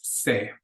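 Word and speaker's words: sé: accent on the E they're both pronounced exactly the same that accent really is just to distinguish between the two words and then Kos is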